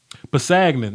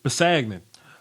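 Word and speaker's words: Kpassagnon: Pasagnan, that's his name. The K is silent. Pasagnan.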